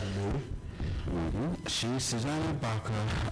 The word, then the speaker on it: Baca: She's Susanna Baca, and some pronounce it Baker, was a recording artist